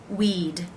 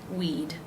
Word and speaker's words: we'd: the word we again is just simply the D sound at the end of that word not adding a syllable weed weed it's pronounced just like this word we'd we'd better get going